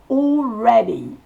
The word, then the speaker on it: already: AL se prononce O, comme un O long. Already.